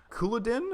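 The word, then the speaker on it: Culloden: It's called Couloudin, I believe is how it's pronounced.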